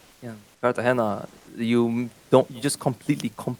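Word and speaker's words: Cartagena: Uh, divine screams pronouncing Carter Cartina wrong. So, I don't know what he's talking about. Anyway, you can't continue though. Yeah. Yeah. Kartahena, you don't you just completely completely completely miss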